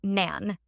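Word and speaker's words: 何: how to start but in Japanese we use what instead of how and pronounce as Nan if someone asks you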